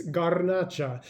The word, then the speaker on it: Garnacha: Today's wines are both primary grape varietal is, well, the first one is French, so they pronounce that as Grenache or something like that. And the Spanish, it's Garnacha. So, but same grape varietal,